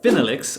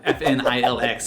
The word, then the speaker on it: FNILX: that i invest in phinelix or fnilx if you want to say it like that and shout out to